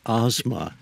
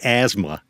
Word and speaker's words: Asma: And the proper pronunciation of my name is Asma. But no one will spell it correctly, so we have to say asthma.